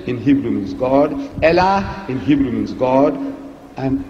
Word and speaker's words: Allah: he who Elohim l in Hebrew means God Allah in Hebrew means god and alternative spelling Allah